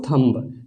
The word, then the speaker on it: thumb: Rule के हिसाब से हमारा यहाँ पे इसका उच्चारण कॉम्ब हो जाएगा। अगर और देखें तो थंब, THUMB, थंब।